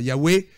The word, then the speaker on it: Yahweh: Yahweh, c'est la manière dont nous avons de le prononcer. Mais les lettres hébraïques sont imprononçables.